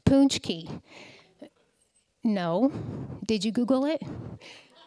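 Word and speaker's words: pączki: bonnie hi bj question do you know what a punch key is pronounced punch key no did you google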